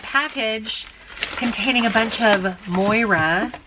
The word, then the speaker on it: Moira: containing a bunch of Moira I think that's how you say it m-o-i-r-a Ora cosmetics try